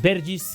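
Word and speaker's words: Bergwijn: que ser Steven bergis bergis creo que es la pronunciación correcta del jugador de los Países Bajos que encontramos en el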